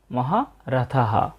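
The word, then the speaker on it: महारथः: কোন বাক্যের শেষে বিসর্গ থাকে তাহলে সেই বিসর্গের কারণে পুরো একটা হ এর মত সাউন্ড আসে তাই আমরা মহারথ না বলে বলবো মহাথাহ। আমরা পরের চরণটাও পেয়ে গেলাম। দ্রুপদস মহারাথাহ।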